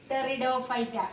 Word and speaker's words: Pteridophyta: Pteridophyta, that is P. P is silent there. So cryptogams are again divided into Thallophyta, Bryophyta and Pteridophyta.